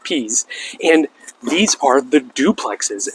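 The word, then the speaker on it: Piez: All right, so now we're back up at the front of the neighborhood on a street called Pease. It's P-I-E-Z, but pronounced Pease.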